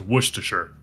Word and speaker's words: Worcestershire: hello double checked it yes it is pronounced Worcestershire Worcestershire that was close here